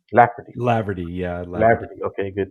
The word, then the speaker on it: Laverty: Laverty, Lafferty, Laverty, yeah, Laverty.